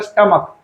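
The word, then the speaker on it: stomach: जैसे मोनार्क और स्टमक दो ऐसे शब्द है जिसके लास्ट में सीएच होता है लेकिन उसका उच्चारण क होने की वजह से उसमें हम लोग एस लगाते हैं।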